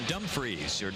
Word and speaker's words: Dumfriesshire: Mackenzie got into the play there he's from Dumfriesshire Dumfries Emily correct pronunciation I was a lucky enough to be